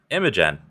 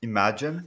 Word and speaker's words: Imagen: and the newly announced imogen image gen imogen i've been saying it all well i've been saying it wrong all week as a joke and now i don't